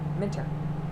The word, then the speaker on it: Minter: Minter. Rhymes with winter.